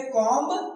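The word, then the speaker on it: comb: जब किसी वर्ड के अंत में एंड में एम बी आता है तो बी की साउंड नहीं आती है।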